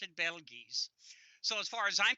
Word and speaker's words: Betelgeuse: always used to pronounce I did kind of drop the long e so I always pronounced it Bell G's so as far as